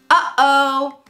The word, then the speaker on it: uh-oh: oh no uh-oh that uh oh is a perfect example of how to use the glottal stop we aren't making the same mouth formation like we do for the true tea or even the held T it's coming from our throat throat okay uh oh